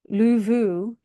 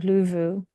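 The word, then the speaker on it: lufu: And then the Old English word was luvu, where the F there is pronounced with a vert sound, luvu.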